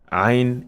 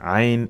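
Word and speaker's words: عين: Ain is Ain in Arabic alphabet. Ain is Ain, it is not A.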